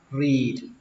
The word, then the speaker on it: read: chúng ta đọc là read. Âm y ở đây là âm y dài, các bạn phải kéo nó ra, read, và kết thúc bằng âm đờ, read.